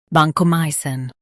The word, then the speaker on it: vancomycin: Vanco, my, sin, vancomycin. Highlight my and soften sin. Vanco, my, sin, vancomycin.